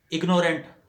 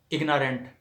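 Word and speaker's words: ignorant: اناسینس ٹھیک ہے۔ اور پھر اگنورینٹ غلط تلفظ ہے، اگنارینٹ صحیح تلفظ ہے۔ اور اگنورینس غلط تلفظ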